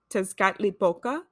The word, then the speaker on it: Tezcatlipoca: So if I pronounce the name wrong, I apologize. But it's Tezcatlipoca, and it's like a patron for sorcerers and